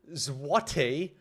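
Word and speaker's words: złoty: Polish zlots is pronounced zwati also redstone.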